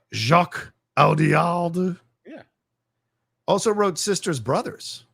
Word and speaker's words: Jacques Audiard: Jacques Audiard.